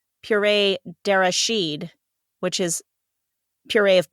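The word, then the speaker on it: purée: imported from from France PID which is the terrible pronunciation for puree dered which is puree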